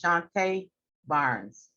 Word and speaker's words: Shantae Barnes: I believe I said, I pronounced Ms. Barnes' name incorrectly. It actually is Ms. Shantae Barnes.